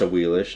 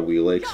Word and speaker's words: Awilix: her today oh wheelish she's pronounced a wheelish not a wee lakes literally speaking you're supposed